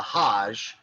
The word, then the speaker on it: hajj: it's that's it but it's the hajj is how that's pronounced so you're supposed to make it it's a religious pilgrimage okay for our purposes it's not that important to talk about the hajj you can look it